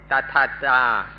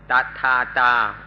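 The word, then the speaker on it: tathatā: heard about in Pali, it's called tathata, tathata, or tathata. We can use either of these pronunciations.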